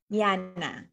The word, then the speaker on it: Llana: Tama ba yung pagpapronounce ko, Liana? Liana.